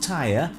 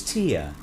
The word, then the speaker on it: tier: dingles please it's not it's not tire it's tear yeah dingley's apparently pronounces